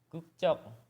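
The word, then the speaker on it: 국적: Gukcok. Gukcok itu apa? Ini dibacanya gukcok, ingat itu gukcok Sangjiat. Kenapa dibacanya gukcok? Karena ada bacim yang berakhiran dengan K merubah konsonan tunggal menjadi konsonan rangkap, jadi dibacanya gukcok.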